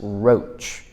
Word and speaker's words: Rotch: be talking about Thomas roach now if you've never said his name before it's spelled r o t c it is annunciated R OAC I know because there's a street called Roch so this is from